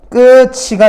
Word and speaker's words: 끝이: 이거는 아 요거 아니네요 이건 발음이 뭐다 끝이가 됩니다 끝이 티읕이 지금 치읓으로 변한 거야 근데 이거 뭐야 이거